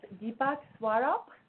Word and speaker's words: Deepak Swarup: Bravo yes I love there are our guests Deepak swaro is that correct way to say it you